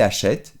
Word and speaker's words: achète: Es que en lugar de acheter, se abre la E y es achète.